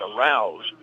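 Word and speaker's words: Arauz: he's clobbered by arouse his name is spelled a r a u z it's pronounced arouse seven to three and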